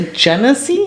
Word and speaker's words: Genesee: What is the Genesee?